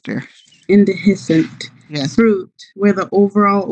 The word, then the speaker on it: indehiscent: Indehiscent, dear. Indehiscent.